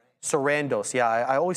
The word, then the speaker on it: Sarandos: co-CEO se Kandoros uh S whatever I always forget how to say his name and Greg Peters said the deal was attractive quote at the right price Sarandos yeah I always say it wrong sandos at